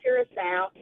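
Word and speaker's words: Curaçao: It's kind of spelled like Caracas or something, but it's pronounced Curacao.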